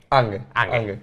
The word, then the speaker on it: Ange: ¿Ange o Ange? Ange. Ange Postecoglou. Sí. Ange Postecoglou, ya está.